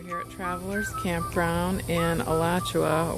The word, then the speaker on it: Alachua: at travelers campground in alachua or as the locals say it alachuae florida just outside gainesville